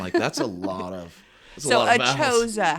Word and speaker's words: ACHOSA: And today we have some wonderful people with us, Marti Brown and Lori Saylor with us from ACHOSA Warranty.